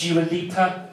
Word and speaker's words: Dua Lipa: I said that the other day, this woman said he's saying it wrong. She said it's Dua Lipa.